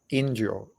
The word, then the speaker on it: Indio: Then I go by the name Indio. Indio is Indio, but it's how the Portuguese in Brazil pronounce it as Indio.